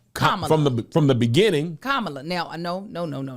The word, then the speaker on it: Kamala: day I was like it's Camala right like Lisha like the meaning we put the emphasis on the second syllable I was like it